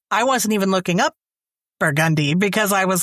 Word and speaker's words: Burgundy: You know, it's not Burgundy Street. It's Burgundy Street.